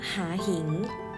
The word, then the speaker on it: มหาหิงค์: นะ คะ คำ แรก ค่ะ มหาหิงค์ อ่าน ว่า มหาหิงค์ เผ่า พันธุ์ อ่าน ว่า เผ่า พันธุ์ อิทธิฤทธิ์ อ่าน